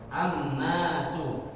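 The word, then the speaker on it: النَّاسُ: Contoh lagi. An-nas. Nah, surat An-nas. An-nasu. Jangan membaca al-nasu. Gitu. An-nas. Langsung dibaca ke huruf setelah huruf lam.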